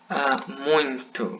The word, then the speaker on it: muito: Okay, so what is muito means?